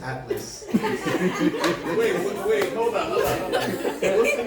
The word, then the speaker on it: Atlas: He likes me so much he adds a syllable to mine. It's just Atlas.